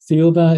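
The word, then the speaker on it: Thiaoouba: Theoba is pronounced as Jehovah in French, and similar to the word Jehovah.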